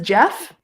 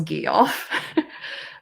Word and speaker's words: Geoff: in impregnation gee off I pronounce it as Jeff yeah it Jeff in this version I know there's like various versions when I was young I thought it was Geoff but it's Jeff yes I do intend